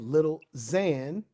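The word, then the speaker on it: Lil Xan: and then we have little Zan when it's with an X y'all it's pronounced with a z so it's little Zan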